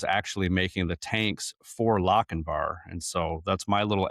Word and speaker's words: Lochinvar: Well, I think it's interesting that I just now learned that it's Lochinvar and not Lochinvar.